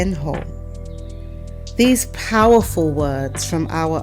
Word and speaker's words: Ho: And the final word is ho, which sounds like H-O-H, ho.